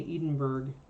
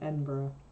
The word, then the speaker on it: Edinburgh: go places and I hate offending people by pronouncing their City wrong it's like people who go to Scotland and say Edinburgh instead of Edinburgh there we go so a little extra shading